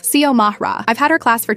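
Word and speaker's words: Xiomara: My name is Ziamara. Yeah, it's Spanish. X I O M A R A. I get that it looks intimidating at first, but it's not rocket science. Sio Mahra.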